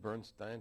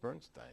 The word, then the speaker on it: Bernstein: the son of Leonard Bernstein aha I see okay good for you and he made it very clear to me that Leonard that's the pronunciation Leonard insisted on Bernstein over bernin and he could be